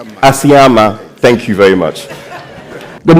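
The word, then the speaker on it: Asiama: Let me pronounce Ayama. The English confused me. I'm sorry. Ayama. Ayama.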